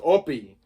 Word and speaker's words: Hoppy: I got an uncle called Uncle Oppie there, but it's spelled Hoppy, but it's pronounced Oppie.